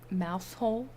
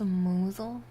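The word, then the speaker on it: Mousehole: you think it's pronounced wait it's not mouse hole M mous Mo that doesn't seem British I I could not tell you I do not know PR hi PR hi how are you doing today thank you for on everybody SM good anyways Ma's Jara Pips send dancers wakas smoggies and monkey hangers what what you just spoke nonsense to me it's pronounced mle mle mle mule mole I okay I can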